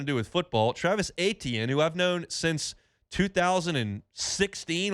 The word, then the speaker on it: Etienne: So I'm like, man, it's Etienne. Like, how you see it is how you say it, and it kind of took off because it was easy for the pronouncers to say it.